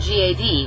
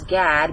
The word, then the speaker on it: Gad: one of the false gods whose name is gad but it's pronounced god which leads me to